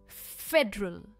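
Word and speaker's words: federal: सबसे पहला है फेड डरल फेडरल तीन सिलबल वर्ड है फ पर इसका स्ट्रेस है फेडरल फेडरल यानी केंद्रीय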